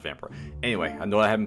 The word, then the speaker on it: Vampyr: back with some more vampire or vampira pretty sure it's pronounced vampire anyway i know i